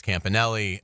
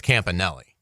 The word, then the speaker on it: Campanile: did and uh and they told me it's Campanelli and then uh Amanda was very nice and